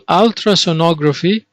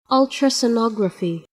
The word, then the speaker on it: ultrasonography: have the same meaning ultrasound or sonogram all ultrasonography they have the same meaning now let's see the pronunciation ultrasonography ultrasonography now uh on page 70 because this